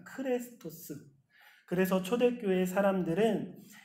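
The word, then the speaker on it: χρηστός: 사람을 입은 그리스도인이라고 했을 크리스토스와 그 억양이나 그 발음이 너무나 비슷하다고 합니다. 크레스토스. 그래서 초대교회 사람들은 이 친절함이라는 덕목을 그리스도인이 정말로 중요하게 간직해야 하는 덕목으로 알았다라고 합니다. 그리스도인이라면 당연히 크레스토스 해야 한다라고 생각했던 거예요.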